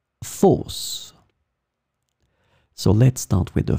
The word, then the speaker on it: fosse: In this lesson, we will see together two words that are written differently but pronounced the same way. Fosse, fosse.